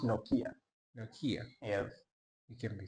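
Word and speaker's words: Nokia: as well it's a city yes it's actually pronounced noia noia yes you can be serious say noia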